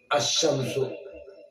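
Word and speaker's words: الشمس: അതിന്റെ രീതി രൂപം കിട്ടും അശംസു കണ്ടോ അശംസു എന്ന് പറയുമ്പോൾ ലാമിന്റെ ഉച്ചാരണത്തിൽ കൊണ്ടുവന്നില്ല അശംസു അൽകമറു കൊണ്ടുവന്നല്ലോ അതുകൊണ്ട് അശംസിയ വകമരിയ എന്ന് പേര്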